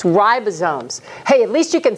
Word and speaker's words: ribosomes: so proud of you it is not ribosomes it is ribosomes with a long eye okay and I know